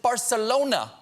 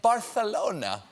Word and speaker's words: Barcelona: The Catalans also pronounce it Barcelona, while the rest of Spain keeps saying Barcelona.